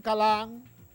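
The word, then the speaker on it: Coulomb: llamaba charles agustín y su apellido que era francés se pronuncia cala cala no así como lo pronuncian los profesores de manera pues que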